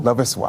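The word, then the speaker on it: Loveis Wise: Illustrated by, how do we pronounce her first name? Lovis Wise.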